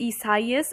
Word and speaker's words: Isaias: how this is pronounced it's actually pronounced as isaias as stated by the national hurricane center's pronunciation guide with um the names